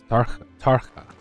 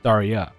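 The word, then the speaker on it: Tarja: Oh, that's how you pronounce that. That was Tarka. It's Tarya.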